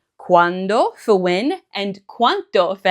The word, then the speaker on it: quando: Now earlier I mentioned that the pronunciation of quando is important because if you don't pronounce that D, you could say this word, quanto. Quando for when and quanto for how much.